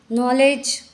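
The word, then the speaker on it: knowledge: तो साइलेंट हो गया नॉलेज नॉलेज में भी के साइलेंट है हम इसका प्रोनंसिएशन नॉलेज न से करते हैं ओके अब हम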